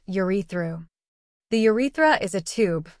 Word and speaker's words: urethra: The fluid contains enzymes, zinc and citric acid, which help nourish sperm cells and lubricate your urethra, pronounced urethru.